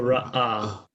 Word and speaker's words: ra'ah: His philosophy is it's the glottal stop, is what it is. It stops the air. Yeah. Stops the air in your throat. Yep. So ra'ah. Ra'ah.